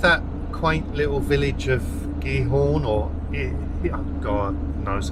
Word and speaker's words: Giethoorn: In Giethoorn, although I've been reliably informed the G is pronounced as a H, so it maybe should be Giethoorn.